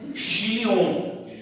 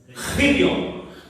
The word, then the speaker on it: Chilion: A palavra correta é Chilion, com CH. Só que a pronúncia do CH, como é que é? Então é Chilion, sabe? É um carregado, Chilion.